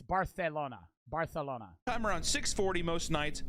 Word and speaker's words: Barcelona: Is that how you say it? It's procedure. Barcelona. Isn't that how they say it? I know in most Spanish countries, a C is just a C. But it's Barcelona.